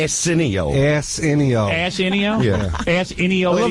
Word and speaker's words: Arsenio: I don't think you're pronouncing his name right. What is his name? Arsenio.